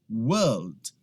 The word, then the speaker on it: world: A gente não pronuncia aquele R ali no meio. Então eu simplesmente falo world, world. O som aqui no início é w, w. E eu emendo com LD.